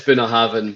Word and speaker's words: Bunnahabhain: This is a comment on one of my videos that's going to drop next week about how to pronounce whiskies. Is it no Bunnahabhain? Yeah, it is Bunnahabhain, but my video was a slight mistake.